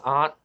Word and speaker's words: aunt: how do you pronounce aunt well it's like oh you say ah like when you go to the doctors you say yeah i guess an aunt all right there's no